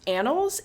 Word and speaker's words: annals: which was in the how do you say this it's annals a Ann LS yeah I think so